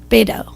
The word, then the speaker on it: Beto: I phone banked, and the guy instructing how to phone bank for him, it's Beto. It's Beto? Yeah. Oh, because I he says Beto. He says Beto.